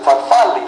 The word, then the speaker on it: farfalle: No, you pronounce it farfalli, like a bow tie.